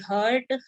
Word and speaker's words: heart: HEART उसको pronounce किया जाता है हार्ट।